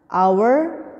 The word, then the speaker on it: hour: Hour, jam. Kayak jam 1, jam 2 berarti ya hour. Bacanya hour ya, H-nya itu silent atau tidak ikut bunyi, enggak jadi hour. Hour.